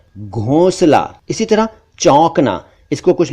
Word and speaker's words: घोंसला: एक शब्द है घोंसला, नेस्ट, घोंसला को कई बार घोंसला कह दिया जाता है जो कि ठीक नहीं है, सही उच्चारण है घोंसला।